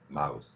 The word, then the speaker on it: mouth: 자, 입하고 mouth. 요 두 개. 요 발음을 구별해서 여러분들 들을 수 있으면 영어의 90% 이상은 소리로 문제 생기지 않을 것입니다. 자, 여기에 TH 발음이고 여기는 시옷, 쌍시옷 발음입니다.